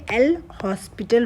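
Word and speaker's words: L'Hôpital: सकते हैं ठीक है हॉस्पिटल कहिए जाए वैसे एस साइलेंट होता है तो आप लोपिड रूल भी कह सकते हैं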